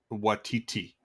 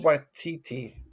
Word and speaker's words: Waititi: I just need to stop you right there and just Watiti. Am I saying his name wrong? Am I saying Yeah, you are. Waikiki like the island? You're saying Watiti. Watiki like the torch. Taika Waititi.